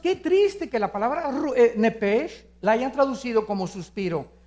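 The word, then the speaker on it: nephesh: la palabra alma es nepes en el hebreo apúntalo nepes se pronuncia nepe porque la ch en hebreo es nepe y la palabra espíritu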